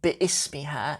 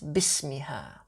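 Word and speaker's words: بِاسْمِهَا: It's not bi'ismiha, it's bismiha.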